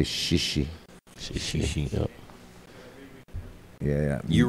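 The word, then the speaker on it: chichi: I think shishi more from, I think Fiji, you know, where the thing is spelled C-H-I-C-H-I, but pronounced shishi, shishi.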